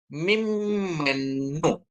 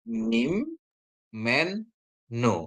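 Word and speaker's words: ממנו: Terus bagaimana cara pembacaannya? Jadi dia bacanya jadi mim menu ya. Jadi kalau dia dibagi dengan silabus mim men nu ya. Ini jadi n nun ini karena dia ada dages juga dia jadi di double ya.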